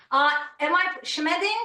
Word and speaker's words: Schmeding: Schmeding? Am I pronouncing this correctly, Dr. Schmeding? Yeah, Schmeding. It's a complicated German name.